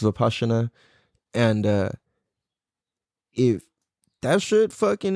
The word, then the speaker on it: Vipassana: It's spelled Vipassana, but it's pronounced Vipassana.